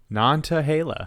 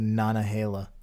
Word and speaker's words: Nantahala: There's a T. Nantahala. Oh, Nantahala. I thought you said Nanahala. Yeah, I mean, that's how you pronounce it.